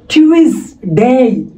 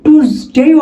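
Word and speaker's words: Tuesday: এরপর আছে দেখেন, আমরা এটাকে বলবো কি? টিউসডে, টিউসডে, বা বলতে পারি টুসডেও আমরা বলতে পারি।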